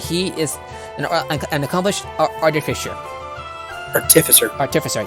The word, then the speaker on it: artificer: Artificer, yeah. Or artificer is also an acceptable pronunciation.